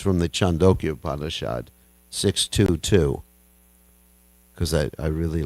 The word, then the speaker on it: Chandogya: Actually, it's pronounced Chandogya Upanishad, not Chandogya. Some people are reluctant to pronounce it Chandogya, because it sounds like a dog, but actually that's how you pronounce it, Chandogya Upanishad.